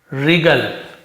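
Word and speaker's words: wriggle: फिर यहां पे व्रिगल नहीं पढ़ेंगे, हम इसे क्या पढ़ेंगे, रिगल, क्या पढ़ेंगे हम यहाँ पे, रिगल, जिसका मतलब लोटना, तड़फना, उसे रिगल कहते हैं।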